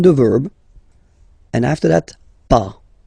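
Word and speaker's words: pas: verb and after that pa okay we write it p s okay but as usual final s is not pronounced so it's okay remember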